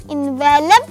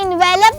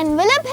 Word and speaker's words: envelope: इसी टून में कहा एनवेलप चाहिए तो आप सबको तो पता ही है कि यह एनवेलप नहीं बल्कि एनवेलप है stress should be ऑन the first syllable एनवेलप चलिए कहानी को